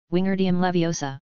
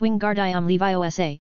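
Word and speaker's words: Wingardium Leviosa: shouting in herm's ear Winger laviosa the girl seemed to snap at his spitting you're saying it wrong it's Wing gardam Levi Osa make the gar nice and long you do it then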